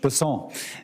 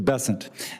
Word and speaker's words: Bessent: Cassidy um Mr bassant I'm always going to pronounce your name as if it was in south Louisiana and I'm going to pronounce it with a French basson as opposed to bessent that's what those folks in South Carolina do um I'll try let